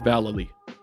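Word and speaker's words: Vallely: the wilderness with mike valailly and yes that's how you pronounce it i wouldn't dare say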